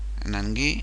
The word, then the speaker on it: Nangui: Then, in the 78th minute, Nangui, I apply the French rules of pronunciation as he's French, kicks a ball terribly badly to make a backward pass to a midfielder.